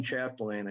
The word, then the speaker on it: Chapdelaine: That's exactly the way it's pronounced. For the record, my name is Chapdelaine.